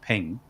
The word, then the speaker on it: PNG: been a jpeg maybe it was a png which i believe is pronounced ping um but we've got